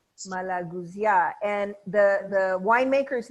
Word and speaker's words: Malagousia: And would you pronounce this for us slowly? Yes. So everyone can hear you. Malagousia. Malagousia. Malagousia. Malagousia.